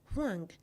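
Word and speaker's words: 黄: The fourth character, huang, means yellow. I will now write the word Togo in Chinese. It is pronounced juoge.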